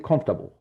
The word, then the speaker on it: comfortable: So it's written but it's not pronounced. So the pronunciation will be comfortable.